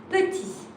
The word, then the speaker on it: petit: Mais petit, you see when you write the T, but you don't pronounce it.